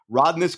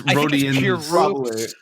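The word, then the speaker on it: Rodions: Karis LeVert and forward Rodness Kirkus. Is that how you say his name? I hope it is. I don't know. I definitely think that's wrong. Yeah. Okay. It's 100%. It's Rodian.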